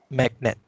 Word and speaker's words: magnet: How to pronounce magnet? Magnet. Magnet. It's a glottal stop.